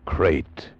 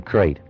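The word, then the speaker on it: krait: Tonight we escaped to India and the story of a man trapped in his bed by a crate.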